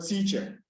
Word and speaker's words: teacher: that we have here the accent will be on T for the word teacher the accent will be